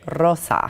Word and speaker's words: Rosa: Got to roll your R, right? Rosa.